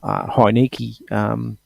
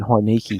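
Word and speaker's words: Heinicke: Or are we going to see Taylor Heineke? Well, that's how I pronounce it, Heineke. Oh, that's right. That's how everyone pronounces it, Heineke.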